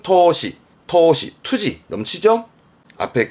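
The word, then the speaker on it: 闘志: 발음은 토시, 투지 넘치죠?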